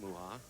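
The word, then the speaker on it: Mucha: Well, he's been married 12 years to Kim Muha. His name is spelled M-U-C-H-A, by the way.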